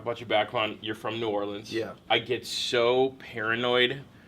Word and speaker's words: New Orleans: I mean, I say New Orleans. The whole Nolans thing. See, that's the thing. No, don't say that. If you Okay. say Nolans, we'll know you're not from there.